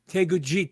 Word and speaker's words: Teguki: And just a quick note, it's Teguki. Teguki, thank you.